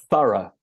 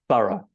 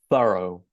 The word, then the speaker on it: thorough: So we stress the first syllable. Thorough.